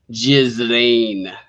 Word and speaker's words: Ghislaine: Ghislaine. Yeah. The thing with the Ghislaine Maxwell thing is it's probably going to implicate a lot of people who would motion be the ones.